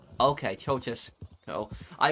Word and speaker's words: Ceaușescu: It's pronounced Ceaușescu. Okay, Ceaușescu.